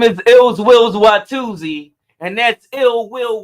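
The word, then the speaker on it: Illz Willz: him um do his thing my name is ills Wills YZ and that's ill will with two Z's and it's spelled I LZ w i wlz on what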